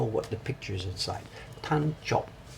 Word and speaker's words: Tancho: Tancho.